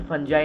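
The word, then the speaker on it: fungi: अब इसको ये मत बोलना कि फंजाई नहीं फंगाई बोलते हैं, नहीं तो यहाँ पे कंट्रोवर्सी स्टार्ट हो जाए, पता चला।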